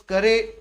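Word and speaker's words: Carew: his poem through beauty but he is pronounced as thomas curry and he is known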